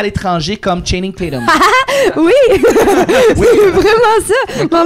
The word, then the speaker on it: Tatum: dit Channing Tattoo. ouais. C'est Channing Channing Tatum. Tatum. en fait.